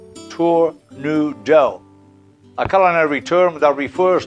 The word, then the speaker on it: tournedos: Glorious tornadoes from France a tornado is pronounced Tour New Dell a culinary term that